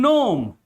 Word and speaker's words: gnome: In gnome.